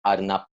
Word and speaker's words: arnab: Is it like a B at the end or P? B. Yeah. B.